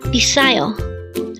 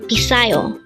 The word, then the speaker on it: 비싸요: BISSAYO. Again, it's BISSAYO. This is pronounced as a 3-syllable word. The first syllable is B, second syllable is sa, and third syllable is yo. Pronounce it with me. BISSAYO.